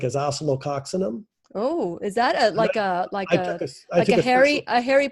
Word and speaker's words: Oscillococcinum: So one of the homeopathic remedy I like is oscillococcinum. Oh, is that a Harry Potter spell? I took a special course to be able to pronounce that. Okay, can you pronounce it again? It's oscillococcinum.